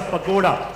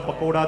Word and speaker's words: pagoda: done this is a pagoda so the metas PanAm always had a gold Pagoda on it that's how it's not the pakoda that is pronounced as pagoda just to be clear